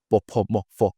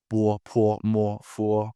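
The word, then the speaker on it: bopomofo: The O in bopomorpho is actually a UO. It's not bopomorpho, it's bopomorpho.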